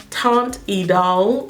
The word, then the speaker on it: Teint Idole: this is the Lancome Paris taunt a doll because that is how they pronounce it on her website ultra makeup stick so